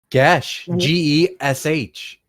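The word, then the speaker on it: geis: what the world's wrong how is it pronounced I'm afraid - what - like - GE SH in Irish floor klore an obligation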